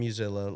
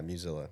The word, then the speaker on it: Muzilla: slogan was, "Vote for Musella like Godzilla." Oh, yeah. kind of how I tell people how to pronounce my last name. Musella? Yeah, Musella.